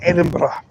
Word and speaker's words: Edinburgh: For anybody who's interested, you will have the place name called Edinburgh.